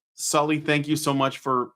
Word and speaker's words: Salih: Yeah, I we pronounce it as Sully, like the guy off of Monsters, Inc.